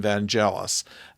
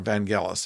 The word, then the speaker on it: Vangelis: cross between disco and Vangelis or Vangelis if you prefer to pronounce it that way so what we have